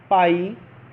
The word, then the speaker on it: phi: इसको रिप्रेजेंट कैसे करते हैं, फिर से यहाँ पे एक बार मेंशन है फाई, और ये इसकी स्पेलिंग लिखी हुई है PHI, ठीक है। PHI कस्ट होता है फाई, और इसको इस तरीके से भी आप रिप्रेजेंट कर सकते हैं।